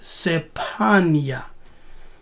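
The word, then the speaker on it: צפניה: now look at this in Hebrew the name is sepanya yes Strong's age 6846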